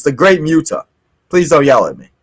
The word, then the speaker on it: Muta: I kind of felt myself say it like a little weird, but yes, it's the Great Muta.